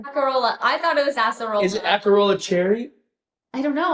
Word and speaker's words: acerola: uh ask hey Siri how how do you pronounce a c e r o l a acerola acerola wow Acera I love how she did